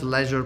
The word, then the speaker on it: leisure: leisure Leisure by one you can pronounce Leisure probably two-way Leisure and Leisure and I might end